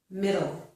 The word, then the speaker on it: middle: Metal, metal, middle. These only differ in the vowel sound when an American pronounces it, okay?